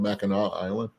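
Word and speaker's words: Mackinac Island: spell spelling it's called ma Island so ma island is how come you don't pronounce the C I don't know ask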